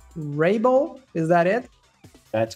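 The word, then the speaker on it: Raible: your surname but I believe it would be pronounced Rabel is that it that's correct awesome awesome got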